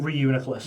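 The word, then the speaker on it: Reuniclus: How do you pronounce room? Reuniculus.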